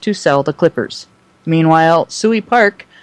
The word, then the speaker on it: Suey Park: So maybe did you want to chime in here, Rachel, with what's going on with Suey Park?